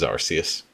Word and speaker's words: Arceus: Yeah, this is Arceus. I hate the way that it's pronounced Arceus.